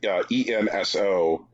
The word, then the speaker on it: enso: because the word that they're going for is ENSO, and they say is circular form in Japanese. How would you pronounce that?